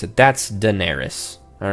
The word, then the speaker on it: Daenerys: I get to choose how to pronounce it. That's Daenerys.